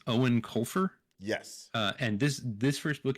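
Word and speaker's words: Eoin Colfer: I had to look up how you pronounce the author's name because he is Irish, I believe. Yes. But it's Owen Colfer.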